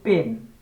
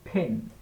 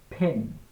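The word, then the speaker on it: pen: যেমন আমরা বলি পিপল সাধারণত কিন্তু এটার শুদ্ধ উচ্চারণটা হবে people people people people people ঠিক আছে তারপর আমরা বলি পেন পেন মানে কি কলম ঠিক না এটা উচ্চারটা হবে ফেন ফেন ফেন এই তিনটা টিপস শেয়ার করে দিলাম আপনারা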